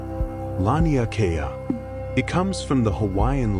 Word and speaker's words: Laniakea: They called it Laniakea. Say that word quietly to yourself if you like. Laniakea.